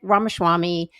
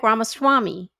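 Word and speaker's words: Ramaswamy: it was when Vivicc Ramachwami and Elon Musk say his last name again Vivc Ramaswami. Yeah you said it wrong this time but last time he said Ramachwami like schwarma or something and it was just so cute.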